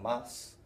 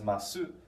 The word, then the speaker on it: ます: We just know that in these certain situations, we don't tend to pronounce a final mas as masu, unless you're being very formal or talking on the phone.